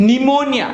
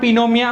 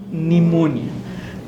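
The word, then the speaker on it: pneumonia: Dolly and Raspberry so द पी is silent निमोनिया नॉट पिनोम बट निमोनिया this इ called pseudo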